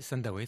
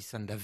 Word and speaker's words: Sandawe: VO ah oui je prononce je pas bien prononcé C non c'est Sandawe très bien mais en France il dit sandav il se pose toujours la question il alleent